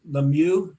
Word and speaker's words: LeMieux: Now, is LeMieux the right way to pronounce that?